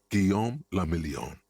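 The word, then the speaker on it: Guillaume Le Million: meant only one thing Gom lilon if it doesn't rhyme you're not pronouncing it right out of the dazzling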